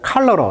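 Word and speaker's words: cholera: 할 수가 있다 자 콜레라 발음은 이제 컬러 이렇게 발음합니다 이름들입니다 컬러 콜라고 하죠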